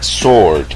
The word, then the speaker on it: sword: regla es la palabra Sword que significa espada en donde la W es muda regla número 10 cuando la